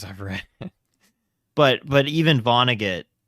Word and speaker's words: Vonnegut: Vonnegut. Vonnegut.